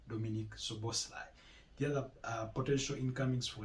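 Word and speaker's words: Dominik Szoboszlai: And that attacking midfielder is no other than Dominic Soboslai. That's how they pronounce it. Dominic Soboslai. You'll find the spelling quite different, but that's the pronunciation. Dominic Soboslai.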